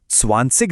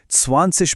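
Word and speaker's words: zwanzig: जब किसी जर्मन शब्द के आखिर में आई जी आता है ना तो उसकी आवाज इग नहीं होती। वो एक हल्की इश्क जैसी सुनाई देती है। इसीलिए को स्वासिक नहीं बल्कि स्वासिश बोला जाता है।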